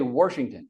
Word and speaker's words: Washington: So how many people, raise your hand if you know somebody who still says Washington? I do. Okay, good. Now, where were you raised? In Bremerton for 80 years. Okay, so in Bremerton, you learned to say Washington. There is an R, Wash.